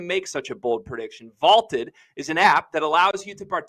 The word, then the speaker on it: VLTED: Go download the Vaulted app. It's spelled VLTED to challenge your friends, store your predictions, and join daily cash prize pools without an entry fee.